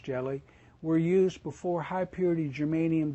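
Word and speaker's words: Ge(Li): Jellies, pronounced jelly, were used before high-purity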